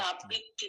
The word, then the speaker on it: আবৃত্তি: যাচ্ছে এইযে দেখেন আমার আবৃত্তি এটা কিন্তু আবৃত্তি না আবৃত্তি না আবৃত্তি আ একটা আয়ের উচ্চারণটা আলাদা হবে বৃত্তির উচ্চারণটা আলাদা হবে আবৃত্তি আবৃত্তি না আবৃত্তি করছি